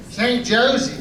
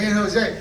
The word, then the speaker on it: San Jose: San Jose. Oh, see in Spanish you say the the J. You don't you don't say it like you don't say you say the J like a H.